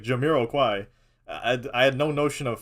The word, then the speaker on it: Jamiroquai: it's by this guy by this guy called jamaraki I I that's what I how to pronounce it I didn't know it was like Jamiroquai I had no notion of French in my